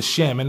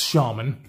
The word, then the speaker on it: Shaman: shaman shaman mix your bags calls this the chemin and so I watch a lot of his videos and of course that's why I keep calling it the salmon but it is pronounced shaman here it is against the tenacious you know